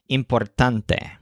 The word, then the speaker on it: importante: with this humans taunts the word importante is a cognate that means important but it stresses the syllable tunt so importante then the human points